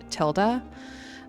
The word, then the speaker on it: Tilda: Um, in the last video I was pronouncing her name incorrectly. It is Tilda.